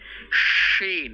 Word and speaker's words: শিন: আছে তাহলে হয়ে যাবে শিন মুখ ভরে একটা উচ্চারণ হবে সাব্দ করবে শিন এটা